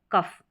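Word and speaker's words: cough: यहां पर देखेंगे तो ओ और यू साथ में आ रहे हैं और इनका उच्चारण अ हो रहा है यानी अ साउंड निकल कर आएगा ओ यू के लिए और जो ये अ है यह शॉर्ट साउंड है शॉर्ट साउंड है कफ कफ नहीं है कफ कफ तो इस फ के लिए लास्ट में आ रहा है इसके लिए हम जी एच लिखेंगे ठीक है जी एच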